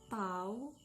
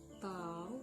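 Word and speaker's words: τ: momen Gayanya itu adalah tahu = F * FB kali pinter dengan keterangannya tahu ini dibacanya tahu ya itu adalah torsi atau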